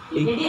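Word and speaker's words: ج: Huruf jim itu bacanya ja. Ada semacam kayak riak atau dia ja. Nah, jim itu adalah sifatnya al-jahr. Tidak ada aliran nafas. Berarti dia ja, tidak sampai ja. Apalagi orang Jawa ja.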